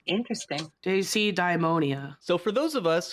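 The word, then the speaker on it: deisidaimonia: It's like daisy-daimonia. There's like an extra syllable in it. It looks like what you're saying, Heka, but it has an extra I in it, or at least it seems that way to us.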